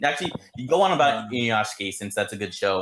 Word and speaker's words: Inuyashiki: So if 3D why is animation it being pronounced like that? It's just Inuyashiki.